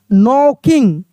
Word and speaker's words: knocking: तो यहाँ पे क्या लिखा है कि याद रखने वाली बात क्या है कि शब्द की शुरुआत में KN हो तो के को नहीं पढ़ते हैं, सिर्फ एन का साउंड आता है।